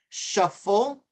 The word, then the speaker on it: shuffle: And that has a V, shovel. Shuffle, this is shuffle with an F.